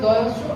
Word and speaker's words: দোয়া: মনে করুন দোয়া শব্দটা, এটা বাংলায় লেখা আছে দয়স্য আ। তো এখানে আমরা কি বলবো? দোয়া বলবো। আইন দিয়ে যেহেতু আছে আর আরবি শব্দ, এটা দোয়া আইন দিয়ে আমরা মুখস্থ করাবো, ঠিক আছে?